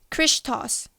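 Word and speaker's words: Χριστός: This symbol was made by combining the first two capital letters, Shi and Rho, of this Greek word, pronounced as Christos, which is the name and title synonymous with Jesus.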